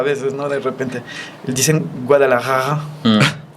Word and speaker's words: Guadalajara: De repente dicen Guadalajara, la J y luego seguido de la R.